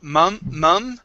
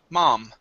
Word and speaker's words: mom: go to the word mom instead of mum okay it's an ah sound ma mom okay mom okay one more